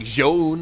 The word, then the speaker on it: ZOUN: But yes, that is the proper pronunciation of ZOUN.